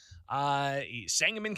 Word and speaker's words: Sangamon: One thing that kind of gets to me a bit is the pronunciation of Sangamon. It's the county here in Central Illinois, the county that Springfield's in, Sangamon County. It's not spelled that way, though, right?